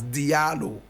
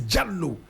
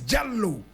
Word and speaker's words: Diallo: jello but many people will pronounce it as Dio correct pronunciation is jallo it's an original fani name proper pronunciation is jello but we all say Dio amadu Jello was